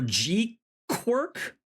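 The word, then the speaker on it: GQuuuuuuX: Supposedly, it's pronounced like quirk or G quirk, but I will believe it when I see it.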